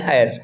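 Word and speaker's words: heir: जैसे आपने आवर पढ़ा होगा, एन आवर, आपने आयर पढ़ा होगा, उत्तराधिकारी, है ना, एन आयर, है ना।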